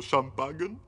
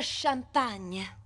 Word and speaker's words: champagne: patetico Scusa va pure vuoi il resto dello champagn no e si pronuncia champagne anche questo no non è la fine del